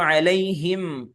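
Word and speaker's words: عليهم: വരാൻ സാധ്യതയുണ്ട് എന്താണ് സംഭവിച്ചത് അലൈഹിം അലൈഹിം എന്ന് പറഞ്ഞാൽ മീം ഉച്ചരിച്ചിട്ടേയില്ല അലൈഹി പിന്നെ തരിമൂക്ക് കൊണ്ടാണ് ആ മൂളൽ വന്നിട്ടുള്ളൂ മീം ഉച്ചരിക്കണമെങ്കിൽ മീ മുമ്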